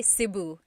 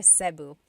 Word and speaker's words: Cebu: the Tagalog alphabet, the letter E can be pronounced E or E like the letter I. So, I say Cebu. Cebu. And I know some people say su, but usually it's either Cebu or Sebu.